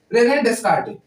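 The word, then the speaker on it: Descartes: तो दुनिया में हमारे एक मैथमेटिशियन आए जिनका नाम था रेने डिड। क्या नाम था? रेना डिड। ठीक है ना? ये जो ऐसे ये साइलेंट रहता है ना रेन डिस्कार।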